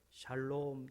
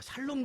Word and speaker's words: 샬롬: 입니다 우리 옆에 분에게 샬롬 축복해 보실까요 발음을 잘 아셔야 되요 살로 뭐 이런 3 살롬 도 좋은 거죠 잘살 낮고 근데 살 못타 샬롬 은 더 좋은거예요 이 샬롬 은 평